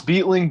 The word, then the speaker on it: Beitling: a special guest for y'all my man betling and i'm really sorry if i mispronounced your last name man but how do i say your last name bro it's beetling but oh you're you're all good it's uh